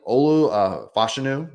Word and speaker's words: Olu Fashanu: the litter here um from what I've seen Olu fashanu is how you pronounce it uh has fallen a little bit